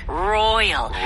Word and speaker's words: royal: 이거는 R 발음을 네. 분명하게 해주셔야 돼요.